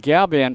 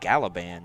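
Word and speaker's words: Galaban: g-a-l-a-b-a-n which looks like galliban you know right the a is silent okay it's not usually silent sanchez has the aforementioned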